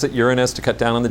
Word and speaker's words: Uranus: And yeah, we pronounce it Uranus to cut down on the jokes.